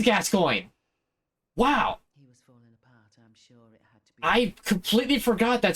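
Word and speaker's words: Gascoigne: have two knives gas oh she actually does pronounce it his name is gascoin wow I completely forgot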